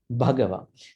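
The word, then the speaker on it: Bhagavā: These are the pronunciation issues. Bhagava. Thank you, Sushma. You read well, but I'm trying to explain things. Bhagava, H.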